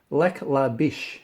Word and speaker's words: Lac La Biche: With I'll try to pronounce it. Lac La Biche, Alberta, is the first show on May 12th, I believe.